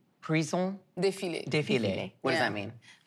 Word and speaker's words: défilé: Prison défilé. Prison? Défilé.